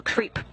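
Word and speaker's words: KREEP: a weird component that we call creep. And it's spelled K-R-E-E-P, and stands for potassium, rare earth elements, and phosphor.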